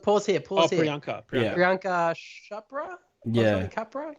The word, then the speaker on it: Priyanka: Uh, Parika? Parenka? this one that's good. Yeah. Look, pause here. Oh, Pause here. Priyanka.